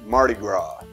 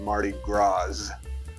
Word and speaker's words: Mardi Gras: store yesterday call it mardi gras i also heard someone call louisville lewisville i guess they didn't get the memo that the s is silent in both accounts but i digress that